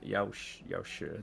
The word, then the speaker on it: Yaoshi: Yeah, Yaoshi, the Chinese pronunciation.